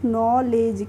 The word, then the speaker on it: knowledge: तो इसमें भी हमारा K है वो साइलेंट है, तो इसे पढ़ेंगे हम नॉलेज, क्या पढ़ेंगे, नॉलेज।